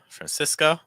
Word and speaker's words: Francisco: From Portugal, Francisco. Watch out for that cis sound. So it's not cis, it's more cis.